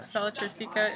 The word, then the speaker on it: sella turcica: Sella turcica is this little, let's see if you can see it.